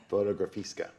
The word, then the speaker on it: Fotografiska: Stephen Starr, you have Veronica coming in the museum that I'm going to have a hard time pronouncing. Fotografiska.